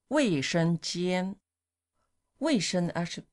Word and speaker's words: 卫生间: 卫生间，卫生 actually means Sanitary, doesn't sanitary.